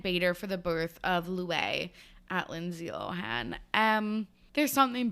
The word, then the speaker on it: Luai: The baby's name is Louis. It is Arabic. It is spelled Luai.